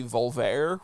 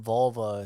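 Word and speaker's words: Volver: It has a very similar vibe to the Penelope Cruz movie Voltaire, which was very good. I think you should watch that. Actually, it's like magical realism where like it's pronounced Volva.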